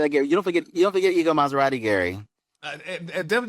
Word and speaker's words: Ego: You do pronounce it Ego, right? Ego Maserati.